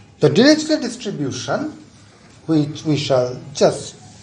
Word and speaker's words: Dirichlet: This T is silent, so it is Dirichlet, not Dirichlet.